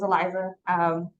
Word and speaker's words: Elieza: My name is Elieza. The best way to pronounce my name is Elieza. Emphasize the line, my name, I'm not a liar.